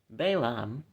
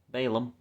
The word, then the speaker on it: Balaam: Balaam, or Balaam, depending on how you want to pronounce that, is asked by King